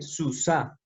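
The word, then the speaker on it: סוסה: Entonces, a diferencia de la palabra sus, acá dice susá, termina en la hei y se le ha agregado una pataj, se llama esto, la alargada.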